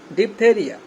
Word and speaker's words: diphtheria: আমরা ডিপ, এখানে কিন্তু অতিরিক্ত একটা এইচ আছে যেটা উচ্চারিত হয় না, কিন্তু ঠিকই এখানে আছে, ডিপথেরিয়া, DIPHTHERIA, ডিপথেরিয়া মানে হচ্ছে কণ্ঠনালীর রোগ বিশেষ।